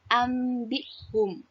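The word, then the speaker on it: أنبئهم: Baik, nomor 1, tertulisnya anbihum, tetapi dibaca ambihum.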